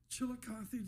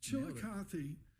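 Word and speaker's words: Chillicothe: Chilikothy, did I pronounce it right? You got it. Nailed it. Chilikothy, the 178y old paper mill just shut down.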